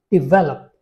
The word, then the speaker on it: develop: And the verb form is develop. Again, the stress falls on the second syllable.